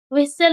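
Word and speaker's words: whistle: For example W एच आई एस टी एल ई यहां पे एस के बाद टी है। इसीलिए इसका उच्चारण विसल होगा।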